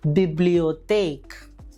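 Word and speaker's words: Bibliothek: ഉദാഹരണം ബിബ്ലിയോതേക്ക്. ഇനി ടേ ഇ ഒ എൻ, ടേ ഇ ഒ എൻ ഒരുമിച്ച് വരുമ്പോൾ അതിൻ്റെ ഉച്ചാരണം ഇറ്റ്സിയോൺ, ഇറ്റ്സിയോൺ എന്ന രീതിയിൽ വേണം ഉച്ചരിക്കാൻ.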